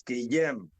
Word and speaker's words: Gwilym: Jonny, Sean, it's Guillem. Guillem, see, thank you. No, you said Guillem. I said Guillem. I was much closer. He didn't say it properly. They're nodding that I was much closer. Thank you. Guillem. All right. I need to get you Welsh. Yeah, they got a double L like we have.